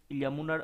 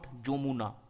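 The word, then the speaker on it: Yamuna: আমি আবারও তোমাদেরকে সতর্ক করে দিচ্ছি, এই ইয়ামুনার উচ্চারণটা কিন্তু আমরা যদি বাংলাতে প্রপার লিখি, আমরা যেটা উচ্চারণ করব দ্যাট ইজ ইয়ামুনা, নট যমুনা।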